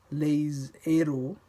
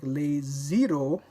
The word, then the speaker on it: les héros: and the word that begins with the aspirated H, like in les héros, les héros, les héros, the heroes, les héros. If the liaison were permitted here, les héros would sound like les zero, the zeros. The heroes become the zeros.